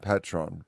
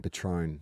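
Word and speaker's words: Patrón: oh no oh God the first syllable is Pat as in Patron Patron Patron oh [ __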